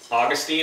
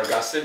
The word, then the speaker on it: Augustine: history you will know that Augustine or Agustin depending and pronounce his name Romans was his book